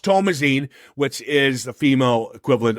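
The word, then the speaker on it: Thomasin: joy as uh tomine Tomas is how it's pronounced it's actually not called Thomasson it's tomasine Tomas get it right get it is it well yes well no it's tomine well actually it's pronounced tomazine which is the female equivalent of Thomas yes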